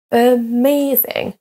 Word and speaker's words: amazing: Et les mots à l'écran maintenant sont accentués sur la deuxième syllabe. Amazing, amazing.